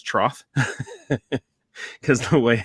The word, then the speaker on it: Troth: we work internationally called the truth some people pronounce it wrong it's Troth because the way it's spelled um I currently